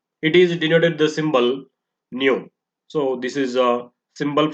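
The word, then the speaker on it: ν: is denoted the symbol new so this is a symbol frequency it is pronounced as new and it is measured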